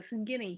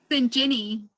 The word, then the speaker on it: Sinjini: Singini, thank you. Sinjini. Sinjini, like gin, like you drink.